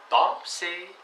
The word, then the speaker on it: penser: не было manger, chanter, penser. Переводится chanter, manger, penser. Еще раз разница. Manger, penser, chanter. Там нет никаких «н».